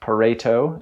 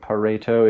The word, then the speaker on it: Pareto: he did let me know that it is pronounced pareto so pareto if you're curious like i was uh but